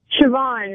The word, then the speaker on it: Siobhan: Siobhan, it's Irish. Siobhan? Yeah. All right. It almost says Slabo.